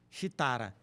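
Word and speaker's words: Sridhara: descobriu a fórmula foi xitara que era um indiano que é se escreve com s r i t h a ra shitara né O Teorema de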